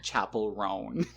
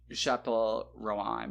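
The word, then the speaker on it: Chappell Roan: went to a cuz if you see the name spelled out though you could not possibly sound more American pronouncing it Chapel rone like I thought it was like Chappel Rowan or something like that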